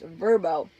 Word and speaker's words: Vrbo: that was for rent on verbo verbo that is how you say it right and my dad said oh look a VRBO and he says he refuses to say it right as verbo and it really annoys